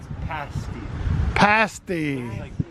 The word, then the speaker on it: pasty: oops we've been pronouncing it wrong put out pronounce what pasty pasty probably Museum 94 upset and do you